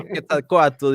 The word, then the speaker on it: Quetzalcoatl: Well, Quetzalcoatl is the right pronunciation, but I love how Americans pronounce Aztec names.